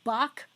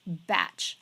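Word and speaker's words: Bach: remedy collection or as some folks will say BOC remedy it's actually pronounced batch but you didn't know that anyways so the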